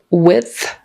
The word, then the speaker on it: width: little all right um width th at the end after a d that's hard width width width um but